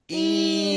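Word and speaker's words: إيلافهم: ইলাফিহিম।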